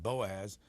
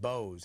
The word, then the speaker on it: Boaz: in there and say that's David Boaz but um you pronounce it Bose how come well I have no idea that's what my father told me to pronounce it um we are eighth